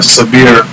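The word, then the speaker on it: Sabïre: Sabir, and it's spelled, to me it looks like Sabire. Sabir, they're calling it. And Sabire. So it started just one guy that did everything.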